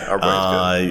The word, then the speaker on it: Arbouet: So Arbouet. Yeah, Arbouet is good. French pronunciation.